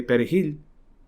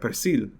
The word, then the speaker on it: perejil: And so the person who would say perejil, which is a Spanish pronunciation for parcel, they would be on their way. But then, of course, if they said like persil, I think that's the pronunciation, either French or Haitian Creole, or like perjil, like, because the H, the J has a softer sound, so they can't pronounce it as well. So they say perjil or something like that.